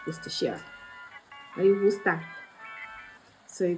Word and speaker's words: Worcestershire: I don't know why some of you don't know how to pronounce this. It's literally so easy. It's Worcestershire.